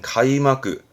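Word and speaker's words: 開幕: 그 막을 거둔다해서 개막 개막식이 개막이죠 카이마크 개막은 가이마그 가이마그 이건 닦는 거죠 패막입니다 해마크 패막의 해마크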